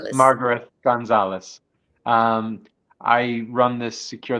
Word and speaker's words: Margareth Gonzalez: Margarith or Margaret, how do you actually pronounce? It's Margaret Gonzalez. Margaret Gonzalez.